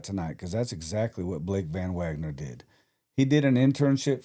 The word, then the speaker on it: VanWagner: Blake VanWagner.